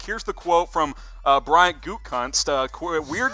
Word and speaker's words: Gutekunst: Here's the quote from Brian Gutekunst.